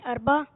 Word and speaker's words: اربع: جی, امام اربع. امام اربع, تلفظ صحیح کیجئے.